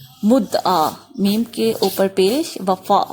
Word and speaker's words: وفا: میم کے اوپر پیش، وفا واو کے اوپر زبر، صدا اور نثار نون